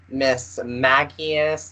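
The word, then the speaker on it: Mismagius: without further ado, I know the verified way to say this Pokemon, but I've heard Miss Magius, Miss Magus, um, Miss Magus. Have you heard of any alternative pronunciations for that Pokemon?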